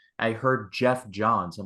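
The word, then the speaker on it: Geoff Johns: was like I heard Jeff John's I'm like that can't be right and so I rewinded a bit and then I listened to it again it's like it's Jeff John's and looking it here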